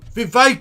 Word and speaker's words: Vivek: No, Vivek, it rhymes with cake.